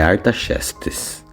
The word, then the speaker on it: Artaxerxes: o rei da época, né, que se chamava Artaxerxes. Desculpa a pronúncia, mas estou treinando esse nome desse rei da Babilônia tantas vezes que até hoje eu não consegui. Mas é Artaxerxes.